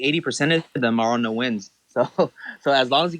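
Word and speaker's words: Nguyen: All the Vietnamese friends, those are like the most difficult last names to fucking pronounce and shit. I mean, 80% of them are on no wins.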